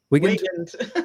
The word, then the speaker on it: Weigand: Did I pronounce that right? Weigand? There you go.